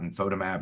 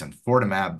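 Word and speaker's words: enfortumab: It's not infotimab, it's infortimab, vedotin, and pembrolizumab.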